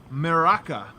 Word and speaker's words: merak: But another Serbian word that was brought to my attention by a Redditor, meraka. I might have said this wrong. Do you know this word, meraka?